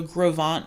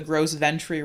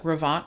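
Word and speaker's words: Gros Ventre: inevitably call it the gross ventri rock slide but this is actually a french word um in this is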